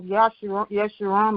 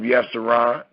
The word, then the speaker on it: Yeshurun: Put in the House of Yeshurun. Make the House of Yeshurun. Y, and it's not spelled with a J. It's spelled with a Y.